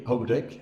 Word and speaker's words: Houdek: So, Houdek, did I say it right? Houdek? Not really. Houdek. Houdek.